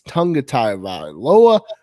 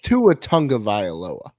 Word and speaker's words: Tua Tagovailoa: I don't give a shit if it's Tunga Tagovailoa, Taya. Come on, Sam, correct him. I don't know how to say it. Don't put that on me. It's Tua Tagovailoa.